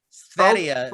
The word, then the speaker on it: Sverige: Sverige is how you. Sverige. It means everything for Sweden or all for Sweden. Because Sverige is how Swedes say Sweden.